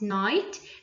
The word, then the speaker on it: night: Number 2, we saw the play last night, the G in night.